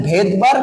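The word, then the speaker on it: Svedberg: একক টাকে বলা হচ্ছে ভেদবার্গ ইউনিট ভি ইডি ভেদ বি আর জি ভেদবার্গ ইউনিট কিন্তু ওই যে বললাম তার ভেদবার্গ হলো তার নামের সামনে কি আছে সাইলেন্ট এস তাহলে এস হচ্ছে ভেদবার্গ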